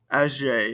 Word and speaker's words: âgé: However, adding an accent aigu to our E makes us pronounce that E. Âgé. We pronounce that E at the end.